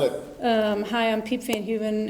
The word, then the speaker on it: Piep Van Heuven: Hi, I'm Piep Van Heuven. It's spelled P like Peter, I-E-P like Peter.